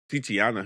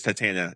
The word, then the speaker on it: Titania: be the villain maybe titiana who's that i don't know it's that's not how you say it's titania titana titania okay yeah titania she's going